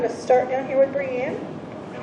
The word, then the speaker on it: Brianne: start down here with brianne i'm not pronouncing your name thank you good morning no i always say it's brie like the cheese because that's a lot easier to remember than brienne often and there's a lot